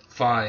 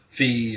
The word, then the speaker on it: Fi: is to Demise what Fi is to you. So Fi or Fi, whatever you want to call her. I've heard it pronounced both ways.